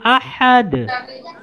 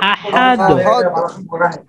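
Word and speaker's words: أحد: রাহিম কুল কুলহু আল্লাহু আহাদ বলেন কুল কুলহু আল্লাহু আহাদ আহাদ আহাদ আহাদ আহাদ বলবো না এখানে একটু শেষের দালটাকে আমরা আরেকটু ধাক্কা দিব এটা একটু ধাক্কার মত হবে শেষে যে আহাদ আহাদ জিহাদ এখানে কুল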